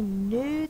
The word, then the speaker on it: knew: it right n oo we have a silent k with the n and U def thong you want to cross out the K you can so that you remember that it's silent new so those are